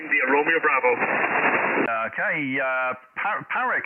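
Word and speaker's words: Páraic: Okay, Parek, how do I say your name? Yes, it's Porrick, Papa Alpha Romeo, Alpha India Charlie, the paw of a dog and a rickshaw. That's the pronunciation guide.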